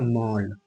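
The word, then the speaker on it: mall: और ये क्या है एम ए डबल एल तो इसको देखिए कैसे लिखेंगे एम मतलब म ठीक है एम मतलब म और ए डबल एल मतलब ऐसे ठीक है औ ए डबल एल का उच्चारण औ लिख दिए म और डबल एल मतलब ल तो ये हो गया मॉल ठीक है एम ए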